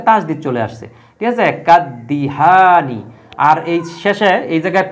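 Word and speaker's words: كالدهان: আলিফ লাম বসানোর কারণে এই আলিফ লামের উচ্চারণ হবে না দালের উপর একটা তাজদিদ চলে আসবে তো এজন্য কিন্তু এইযে দালের উপর একটা তাজদি চলে আসছে ঠিক আছে কাদদিহানি আর এই শেষে এই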